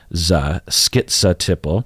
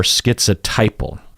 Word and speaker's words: schizotypal: the second syllable is also pronounced in multiple ways you have the skits uh you hear what I'm saying I skit schiza Tipple and then you also hear zo schizo Tipple then the third syllable you will hear tit or tie so you will hear schiza Tipple or schizotypal would I say yeah schiza Tipple or schiza typo the last syllable pull is always just pull so you have schizotypal